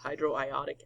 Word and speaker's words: hydroiodic: You guys can read this in a couple of interesting ways, but I pronounce it as hydroiodic acid.